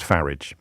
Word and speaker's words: Farage: says can you please stop calling them the farage riots it makes me so angry it's pronounced farage you make an excellent point Christian my apologies